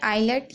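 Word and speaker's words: islet: यहां पर भी देखिए आईलेट यहां पर भी एस को नहीं पढ़ा जा रहा तो तीनों वर्डों में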